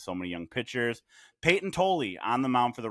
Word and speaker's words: Tolle: Couldn't figure out what the pronunciation of his last name is. It is Tolley.